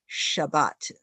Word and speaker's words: Shabbat: 我们说 Sabbath 在中文讲叫做安息日, and in the Judeo-Christian religions, you would probably pronounce it as Shabbat.